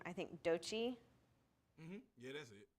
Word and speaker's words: Doechii: I don't know how to pronounce her name. I think Dochi. Yeah, that's it. Dochi.